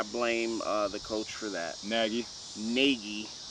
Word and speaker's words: Nagy: Nagy. That's how you would like it to be pronounced.